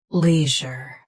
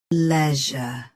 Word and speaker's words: leisure: Leisure. Now, read the syllables of British pronunciation shown on the screen naturally. Leisure. Leisure. US has lee. UK has le. End is je versus je.